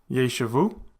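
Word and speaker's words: יֵשְׁבוּ: And finally, a Shewa following a tzarei, which is a long vowel, thus it is a vocal Shewa, leading to the pronunciation of yeshavu, and it means they will sit or they will dwell.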